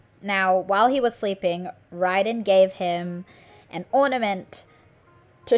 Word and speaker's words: Raiden: began roaming Inazuma okay I pronounced her name as Raiden it's it's Ryden it's it kinetically it's